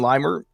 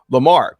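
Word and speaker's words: Limar: out, they've used uh Jaden Limer or actually me put my pronunciation guide. I screenshotted this just for this moment and then left it ride. Uh Lamar. Jaden Lamar.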